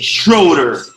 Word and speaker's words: Schroeder: 1st with the man with my guy billy schroeder that pronounced your last name right you did hello